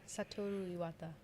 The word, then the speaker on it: Satoru Iwata: Yeah, Satoru Iwata. There you go. I am not even going to try to pronounce that name.